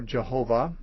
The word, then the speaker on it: Jehovah: be an alternative and when you add certain vowels to these this word can be pronounced yahweh or jehovah or or differently still